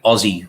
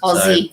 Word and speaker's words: Aussie: lesson there um yeah it's definitely aussie with a more with a z or a z sound rather than an s aussie yeah so uh yeah